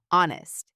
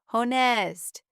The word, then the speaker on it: honest: Honest. "Who wants to read?" he asked. I raised my hand. "Hest." Mr. Brown smiled kindly. "Good try, Mia, but we say honest. The H is silent."